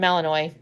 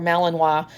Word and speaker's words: Malinois: He's a Belgian Malinois, or Malinois. And I think you can pronounce it either.